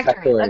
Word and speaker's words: Factoria: Yeah, Factoria. Okay, like Victoria, but Factoria.